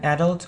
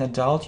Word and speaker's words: adult: You know that we can pronounce it either adult or adult. Yeah, either, so it's British pronunciation, and either, it's American pronunciation. Yeah, either or either, it's the same. And that's also true about adult and adult. It's the same, you know, it's just a matter of American or British pronunciation.